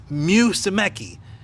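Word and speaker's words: Musumeci: Musemeci.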